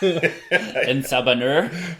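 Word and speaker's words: En Sabah Nur: And having this name that I really do not want to pronounce. Yeah. En Sabanur.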